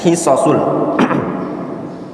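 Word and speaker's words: حصص: Lihat bacanya hisasul. Jamak dari hissah.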